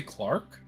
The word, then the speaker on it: clerk: sorry did you say Clark yes Clark Clark Clark what what is that a clerk I know what a clerk is a clerk is a clerk okay it's generally the British pronunciation and I've been hanging